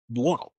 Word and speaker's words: Buono: Okay, Not Bruno. well, Buono. I can't even pretend to pronounce that name.